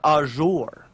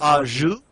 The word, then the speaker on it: au jus: Yeah, and I kept calling it au jour, but I guess that's the wrong way to pronounce Yeah, it. I was wondering. Yeah, I was wondering if I had it wrong. I didn't know. Is it so? Is it it's au jus?